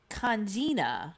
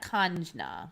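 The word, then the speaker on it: Kangina: Congena, not conjna. Congena? Maybe it's spelled differently in different places.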